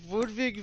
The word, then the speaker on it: Ludwig: It's actually pronounced Ludwig, like some sort of, like, a old country in Catch you in next time, Europe.